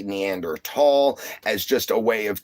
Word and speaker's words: Neanderthal: The H is actually silent, making the T stand for itself. we've just mispronounced it for all this time and everything. So, uh nowadays we say Neander tall as just a way